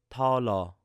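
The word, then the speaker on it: 달러: So we have this word dollar in Korean is talo. So it's a very light T sound at the beginning.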